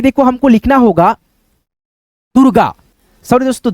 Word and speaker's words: दुर्गा: जिस अक्षर पे ये मात्रा रेफ का लगेगा उस अक्षर से पहले इसका उच्चारण र में हो जाएगा। दूरगा दुर्गा। दुर्गा आधा पढ़ना।